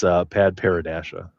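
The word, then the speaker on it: padparadscha: Yeah, can you please pronounce that for us? Yeah, it's Pad Paradasha or There you go.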